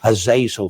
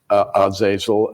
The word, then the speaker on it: Azazel: one of the fallen angels was called Azazel or Azazel it would be pronounced in the Hebrew and from the Book